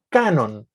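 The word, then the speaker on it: κανών: La palabra canon profiere de una palabra griega que se lee igual, canon, pero se escribe con K, que significa nivel o regla.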